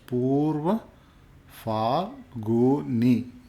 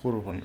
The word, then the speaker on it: Purva Phalguni: Purva Phalguni is pronounced as Purva Phalguni. Okay, that's how you pronounce it. So Purva Phalguni.